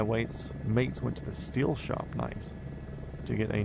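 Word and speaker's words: Stihl: Steel. Steel is apparently the correct pronunciation of it.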